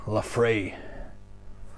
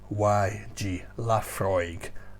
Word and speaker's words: Laphroaig: told me it's pronounced la free i said well look at the bottle it tells you l-a-f-r-o-y-g laphroaig la frog frog so